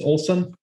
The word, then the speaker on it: Olson: It's Olson? It is Olson, Olson with an O.